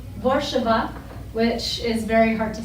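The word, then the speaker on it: Warszawa: is warsaw so that's actually not the correct pronunciation my husband would be like it's borshaba which is very hard to say so warsaw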